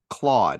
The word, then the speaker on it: Claude: with Cloud Ai and that's Cloud as in the fluffy clouds in the sky AI nope CL Cloud Claude how do you spell that c l a u d.